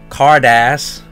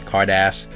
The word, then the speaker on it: Carddass: Japanese product we got here the Dragon Ball Kardash that's how you pronounce it guys not cardass cardass cardos premium set volume six so it's